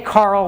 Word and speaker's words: Karel: in the room but closer to the actual pronunciation but we say Carol these days because it's kind of like gender neutral okay and so Carol